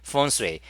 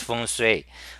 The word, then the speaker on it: feng shui: Okay, in Chinese we say feng shui. In English you pronounce feng shui, which is you can